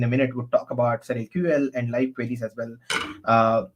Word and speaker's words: SurrealQL: is Surreal query language, but we call it as SurrealQL.